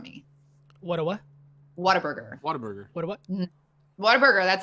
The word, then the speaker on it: Whataburger: eight minutes from me what a what whataburger whataburger what whataburger that's how you say it and